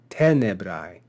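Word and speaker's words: tenebrae: And then lastly, we saw this word tenebrai, tenebrai. And if we look at the penult syllable, we see that it's common. Therefore, we'll accent the antepenult. Tenebrai, tenebrai.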